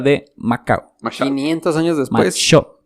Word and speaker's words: Machaut: Machot. No, en realidad sería Machot. Se escribe Machaut.